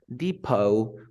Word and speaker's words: depot: bouquet then we have rapport Depot look at the last word we never pronounce the T so what you have